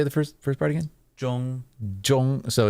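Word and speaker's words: Zhongli: so it's like okay there's no z sound more of a j it's more of a Jong J any zh sound is more of a j j got it yeah cuz a lot of people say like Jang Le mhm like you know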